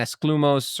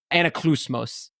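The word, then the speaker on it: Anaklusmos: We learned about Riptide and Esclumos or however the hell you pronounce it. Anaclusmos is how it's pronounced.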